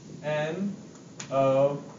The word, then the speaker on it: know: no that's perfect k n o w o this one actually the vowel says its name no o just let you know like no means no yeah exactly so I